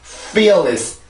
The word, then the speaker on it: fearless: 그래서 이렇게 발음합니다. fearless, fearless, fearless.